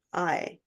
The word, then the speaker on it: Aille: It's pronounced I, but it's spelled Aille.